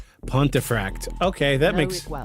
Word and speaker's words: Pontefract: How do you pronounce How is that pronounced? Say that again. How did Cuz I I know I'm going to Pontiffract. Pontifract.